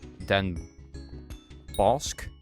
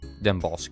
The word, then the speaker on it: Den Bosch: If you want to do it English, it would be Den Bosch. Den Bosch, I guess.